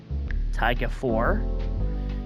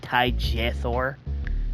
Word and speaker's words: Tygethor: Tygethor. You know, I've had people on Twitch mispronounce my thing as like Tygethor. They take the G as a J.